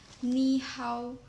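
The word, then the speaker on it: 你好: is the common greeting knee how or hello despite being written with two third tones the first character is pronounced with the second tone knee in conclusion the best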